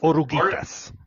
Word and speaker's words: Oruguitas: and G and E, the U is silent in Spanish.